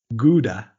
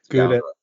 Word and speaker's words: Gouda: Chèvre, Brie, Gouda, or Feta?